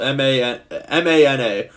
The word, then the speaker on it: mana: It's spelled M-A-N-A.